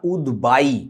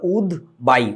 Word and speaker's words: উদ্বায়ী: এই শব্দটাকে তোমরা হয়তোবা উচ্চারণ করে থাকো উদদায় উচ্চারণটা উদদায় না উদবাই বায়ুতে যাওয়ার প্রবণতা এটাকে বলে উদবাই উদ মানে যে ওড়ে স এটার ইংরেজি কি